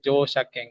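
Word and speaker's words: 乗車券: Ya, ini bacanya Jo. Irfan Sang. Norimas itu Jo. bacanya Jo. Berarti Jo. Ya. Jo Jo apa? Shaking. Nah, ini Jo Shakeng ya. Nah, Jo Shakeng. Karena ini Jo. kata-kata yang satu kesatuan itu bukan Shakeng ya.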